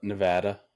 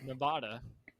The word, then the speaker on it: Nevada: out here in in Nevada and uh quickly I was corrected no it is Nevada so ever since then I've pronounced it Nevada because that's the way that people in Nevada pronounce it let's see for